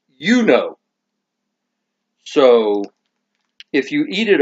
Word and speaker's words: U-NO: This is actually pronounced Uno.